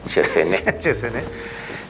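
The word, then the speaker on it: Chassenée: Así me dijeron que pronuncia, Chesenet.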